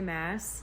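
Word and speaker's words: Maas: is the assassin's blade it's by Sarah J mass and yes it is pronounced Mass I actually have a video that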